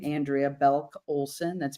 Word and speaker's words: Belk: Uh you can find me on LinkedIn uh by my name, Andrea Belulk Olsen.